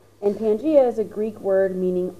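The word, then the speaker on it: Pangaea: actually gave that a name he called that Pangia p a n g a e a sometimes you see it spelled p a n g EA either way it is pronounced Pangia and Pangia is a Greek word meaning all lands so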